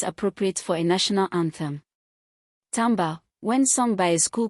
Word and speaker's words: timbre: Mistake three, spelling timbre as timber like the wood. The musical term is t i m b r e from French and it rhymes with amber.